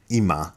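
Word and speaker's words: 今: the character for now IMA would be how you pronounce it in Japanese and then the bottom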